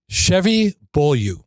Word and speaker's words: Chevy Beaulieu: So everybody, I'd like to welcome Chevy Beaulieu.